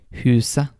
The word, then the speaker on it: huset: When you see the letters ET in Norwegian, the T may be silent. And some examples of that are huset, det, uke.